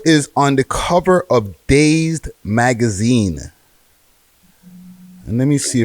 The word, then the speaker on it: Dazed: is it Dazn? My dyslexia kick in when I found that story earlier. No. It's just that's how I believe that's how it's pronounced. No, it's Dazed magazine, British magazine, Dazed.